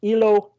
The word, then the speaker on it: Iloilo: Well, it is pronounced as Ilo.